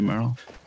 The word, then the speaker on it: Merle: I could just call him Mergle. I'm just so too stupid to say Merle. Even though I just did say it right, still.